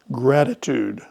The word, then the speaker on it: gratitude: Gratitude. That first T is a flap T sound.